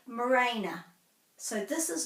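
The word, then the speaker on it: mōrena: So morena. More has got the macron. Morena, morena. I hear some people say morena.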